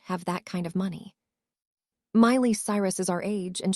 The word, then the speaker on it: Miley: Hi, I'm Miley, rhymes with smiley.